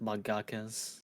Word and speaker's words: mangaka: The That should author be of like a common practice with mangakas.